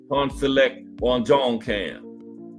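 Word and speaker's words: Pongsaklek Wonjongkam: And that's right cuz I looked up that app to tell you how to pronounce it. Pawn Select Juan John Cam.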